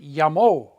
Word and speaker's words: llamó: That's why all over here, this should be pronounced llamo, but we have to put an accent mark on it to tell you to pronounce it llamo.